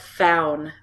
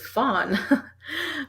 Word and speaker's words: Faun: It's pronounced faun. Faun. See, I knew him. And us Canadians, we just look at it, so it's fawn.